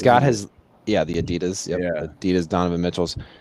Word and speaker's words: adidas: it's a pretty easy american adidas i know they say it like that and uh like a lot of australians say like adidas yeah i'd death but i prefer adidas like what the europeans would say anyway that's that's the